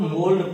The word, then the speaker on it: mould: पहला MOULD, इसको हम लोग मोल्ड पढ़ते हैं। मोल्ड मतलब होता है ढालना, सांचे वगैरह में ढालना। अब देखिए OU और D के बीच में L था, साइलेंट नहीं हुआ।